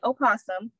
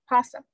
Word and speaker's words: opossum: ways to pronounce opossum you can either pronounce the first o and say opossum or the o can be silenced and be pronounced possum so for the sake